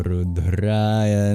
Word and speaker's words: rudrāya: Om Chang Chanda Rudraya Namah. For example, the O's are always long in Sanskrit, as is the A in Rudraya.